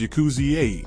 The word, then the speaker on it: yakuza: consisted of three cards eight nine and three pronounced as yakuzi in one Japanese dialect this term would later